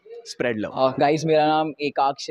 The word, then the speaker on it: Ekaaksh: guys, मेरा नाम एकाक्ष है, आप लोग को इसका स्पेलिंग चाहिए तो EKAAKSH, तुम लोग इसको यूट्यूब